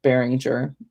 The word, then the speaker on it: Behringer: It looks like Beringer instead of Behringer, but it's still pronounced Behringer.